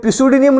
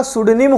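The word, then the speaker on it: pseudonym: सुदानी में बोलते हैं ये pisudinium नहीं होगा sudinim होगा पी यहां पे साइलेंट हो जाएगा तो क्या बोलेंगे सुदानी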